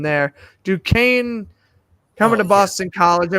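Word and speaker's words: Duquesne: can never pronounce this school's name either D dunquin I might pronounce that wrong the Dukes yeah I it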